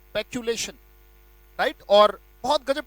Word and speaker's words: peculation: Right, so the word is पैक्यूलेशन, पैक्यूलेशन।